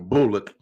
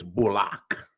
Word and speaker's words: Bullock: bullock oh block he he made that correction he wants everybody to pronounce his name bullock now you feel me reggie didn't been in the league almost 10 years everybody been calling him bullock now he's not no no it's bullock you know he he